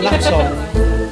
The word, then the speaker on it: Latong: Latong. I believe it's pronounced Latong.